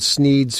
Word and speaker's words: Sneed: The shop is called Sneed's Feed and Seed, where feed and seed both end in the sound "eed," thus rhyming with the name of the owner, Sneed.